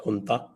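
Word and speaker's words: junta: था इनकी जो है जे यू एन टीए प्रोनाउंस नता तो यह इनकी जो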